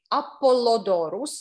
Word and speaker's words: Apollodorus: But the artist I mentioned, Apollodorus, it's called Apollodorus, like Apollo, Apollodorus.